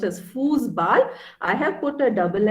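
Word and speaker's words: Fußball: means house then football is foosball okay it's pronounced as foosball i have put a double s over here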